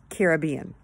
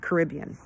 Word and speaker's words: Caribbean: I've always pronounced it Caribbean. Some people pronounce it Caribbean. Both are right. Caribbean is the way that the islanders say it.